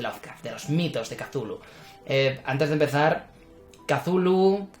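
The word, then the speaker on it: Cthulhu: ver cómo se pronuncia yo digo kazulu debido a que es como se pronuncia en inglés es decir lo más cercano a lo que fue la forma de pronunciarlo de su autor original y es por lo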